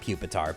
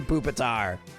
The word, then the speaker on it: Pupitar: I know it's pronounced Pupitar, but it's fun to say Pupitar.